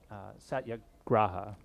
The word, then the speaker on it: satyagraha: then the chapter was titled this idea of satyagraha. I believe that's how it's pronounced, but Satyagraha.